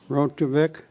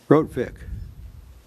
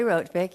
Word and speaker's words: Rotvik: Uh uh Rotovic Rotvik. Good evening, honorary mayor and council members. My name is Rotvik. You did say it correctly.